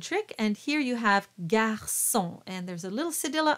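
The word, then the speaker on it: garçon: and here you have Garson and there's a little cedilla under the sea which means it's a soft C pronounced like an S Gar so so you'll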